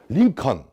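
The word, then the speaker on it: Lincoln: 싹 영어에서는 묵음이라고 그래요 심지어 링컨 미국 사람들도 lin 그렇죠 con 아니고 l이 있죠 애를 묶음이라고 그래요 무금이 아니라 l의 자리에 놓고 발음하라는 거예요 링컨 할 때 떨어지죠 l은 올라가죠 L 혀가 올라가죠 혀를 올린 상태에서 n 발음하라는 거예요 턴을 하라는 어딜 바로 말하는 거예요 하지만 위치를 조정해주는 중요한 역할을 하고 있는 거예요 아무 쓰임새 없었으면 애초에 con이라고 썼겠죠 존 John h 자리에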